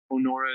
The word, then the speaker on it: Onora: Onora is spelled O-N-O-R-A. It's a play on the word honor.